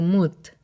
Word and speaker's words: Mut: menos uma era abutre o nome dessa deusa era pronunciado mute seria apenas casual a